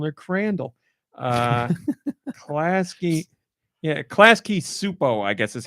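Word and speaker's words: Klasky Csupo: Crandall uh Pulaski yeah klasky supo I guess is how you would say you don't pronounce the C in that c-s-u-p-o they've done a lot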